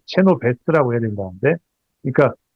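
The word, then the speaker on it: Chenoweth: 그 다 건국대 이관우 교수 말에 따르면이 사람 발음을 체노 베스트라고 해야 된다는데 그러니까 전 국민의 3.5% 집단적으로 반복적으로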